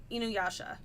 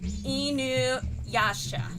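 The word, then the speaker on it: InuYasha: Inuasha, not inu, which that might be the English pronunciation.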